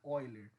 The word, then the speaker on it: Euler: Que é a constante de Euler, ou Euler, para quem prefere falar, mas eu acredito que o nome correto, né, a pronúncia correta seja Euler.